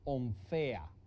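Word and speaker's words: ῥομφαία: La palabra es esta que se pronuncia onfea, pero se escribe ronfaía.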